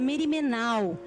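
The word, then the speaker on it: μέριμνα: Essa é uma palavra em grego que chama-se e fala-se pronuncia merimenal e que significa literalmente nós estarmos distraídos pelo medo.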